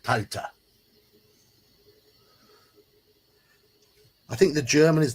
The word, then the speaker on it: Kalte: cold region um and the pronunciation of the German would be CTA be an uh sound at the end CTA I think the German